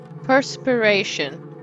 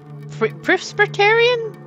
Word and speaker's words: perspiration: to sleep no more perspiration that's how you pronounce it I always pronounce it as Presbyterian perspiration English is not